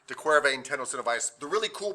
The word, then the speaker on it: de Quervain: for all of you you can type this into the internet and say how do i pronounce de quervain tenocinovitus and somebody will come on and say something completely different no hopefully they'll say de corvae and tenocinovis the really